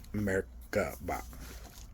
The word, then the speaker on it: Merkaba: There are several pronunciations, but generally you pronounce it as if there are three syllables are separate. Merkaba, which equal accents on each.